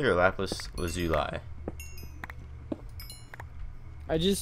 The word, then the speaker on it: lapis lazuli: say lapis lazuli or lapis was you lie I just say lapis just cut it short yep how do you say well i usually say lap is but i usually say laughs lucy lee 5 setting the whole